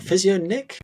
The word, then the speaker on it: Physionic: I was like, Physio Nick? Or is it Physionic? Or how am I pronouncing that one? Because I see what you did there. There's no H. Yeah.